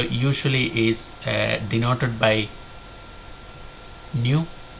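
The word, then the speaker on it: ν: is uh denoted by new which is pronounced new and that is equal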